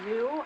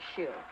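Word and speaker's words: Xu: Oh, is it pronounced zoo? I've been pronouncing it shoe. I think it's Zoo, but I'm not sure. I don't speak Chinese, and I'm pretty sure its name is Chinese. X's tend to be pronounced with a sh kind of sound.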